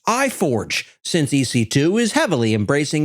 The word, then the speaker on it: i4g: G Storage optimized instances these are of course pronounced I Forge since ec2 is heavily